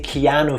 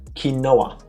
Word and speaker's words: Keanu: the name keano Reeves but Tifa cannot say Keanu for some reason so she said kinoa I think it's pronounced quinoa yeah in America it's it's not